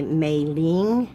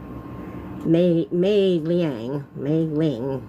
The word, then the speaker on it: Meiliang: I want to say Meiliang, it's L-I-A-N-G, Mei, M-E-I, and that's, in most of the Asian languages, it's Mei, I think. I don't think it's Mai, it could be.